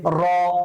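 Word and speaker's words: ر: র, তাকরর হবে, তাকরর। এটাকে কি বলে? তাকরর বলে আরবি শব্দে, মানে বারবার উচ্চারিত হওয়া। কি হওয়া? এই রটা হচ্ছে বেসিক্যালি বারবার উচ্চারিত হবে।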